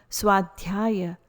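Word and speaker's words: svādhyāya: Swadhyaya, self-study in the context of teachings, knowing what can or cannot be changed.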